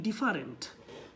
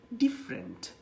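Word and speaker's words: different: আমরা অনেকেই বলে থাকি ডিফারেন্ট, কিন্তু উচ্চারণটা মোটেই ডিফারেন্ট না, উচ্চারণটা কি হবে বলেন তো, ডিফারেন্ট। আপনি একটু খেয়াল করলে দেখলেই বুঝতে পারবেন এটা হবে হচ্ছে ডিফারেন্ট। এবং আমরা বলি ডেভেলপ, উচ্চারণটা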